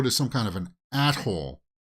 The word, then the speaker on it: atoll: So it sounds like they go to some kind of an atoll. Be careful how you pronounce that word, right? Atoll? Not, yeah, you know what people confuse that word with. At-hole.